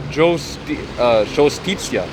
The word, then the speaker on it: giustizia: Next one, it says modern Italian pronunciation, giustizia, or justizia.